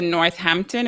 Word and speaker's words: Northampton: You moved then to Northampton. Is that how it's pronounced?